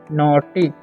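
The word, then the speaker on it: naughty: आगे लिखा हुआ है यू आर नॉटी ठीक है य पर जी साइलेंट है ठीक है तो अब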